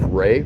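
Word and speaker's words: Rey: This is my lovely wife, Ray. What? So, and it's spelled R-E-Y, but if you want to say R-A-Y, you can call her Ray, you can call her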